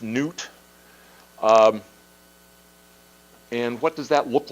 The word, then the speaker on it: Nut: What you have here is the sky goddess, and her name is spelled N-U-T, and I believe it's pronounced Newt.